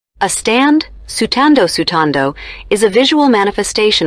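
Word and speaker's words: スタンド: the term is written as stand yubo when sutando sutando with purigana to change the pronunciation of what literally means ghostly Ripple ubo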